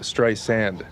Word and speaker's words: Streisand: Sand. Sand, yeah, like sands. Like the ocean, like Barbara beaches. Streisand? No, like Streisand.